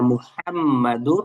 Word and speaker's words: মুহাম্মদ: সমস্যা করি অনেকে ইল্লাল্লাহু পড়ি ইল্লাল্লাহু না শব্দটার উচ্চারণ হবে হল ইল্লাল্লাহ তাহলে লা ইলাহা ইল্লাল্লাহু আচ্ছা এরপরে মুহাম্মাদুর রাসুলুল্লাহ।